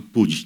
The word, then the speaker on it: Puig: O Daniel, dos elogios a ao Daniel, vocês repararam que ele se chama Pud, né, que é Manuel Pud, porque ele faz questão de respeitar a pronúncia catalã, que é um gesto